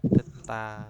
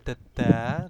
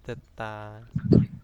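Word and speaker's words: 듣다: Bacanya adalah deta, bukan deda, tetapi deta.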